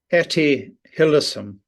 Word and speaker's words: Hillesum: How do you pronounce her name, by the way? Etty Hillesum.